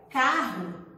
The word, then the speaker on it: carro: chapéu e olha a palavra carro a escrita com dois r mas a gente só pronunciam um tá a palavra posto